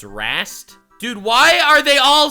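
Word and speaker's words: Rhaast: In other words, after Azir's betrayal, the Ascended Warhost was left without a leader, and with It's Rast?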